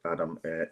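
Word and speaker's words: Idah: And leading the line up front, we have Adam or Ida depending on your your pronunciation, but Big Adam has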